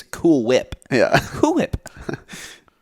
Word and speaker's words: Cool Whip: It's Cool Whip. Yeah. Cool Whip. You don't pronounce the H.